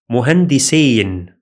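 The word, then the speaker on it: مهندسَين: For example, the word muhandisain, muhandisain means two engineers, while muhandisin means engineers in plural.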